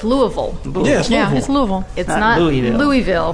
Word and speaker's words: Louisville: Louisville. Louisville. No, not Ville. Louisville. Oh, that's the Everything difference. is Vol. Not Louis. Louisville.